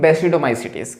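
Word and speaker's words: Basidiomycetes: ये क्या लिखा है, बेसिडियोमाइसिटीज, लेकिन इसको पढ़ते हैं इंग्लिश में बेसिडोमाइसिटीज।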